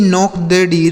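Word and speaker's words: knocked: जैसे ही नॉक्ड door. वह उसने दरवाजा खटखटाया। ही नॉक्ड दी डोर। ठीक है? यहां पर भी के साथ एन है तो के साइलेंट है।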